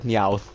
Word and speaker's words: Meowth: believe i can't believe i just said meowth wait that is that's how the name is pronounced what the [ __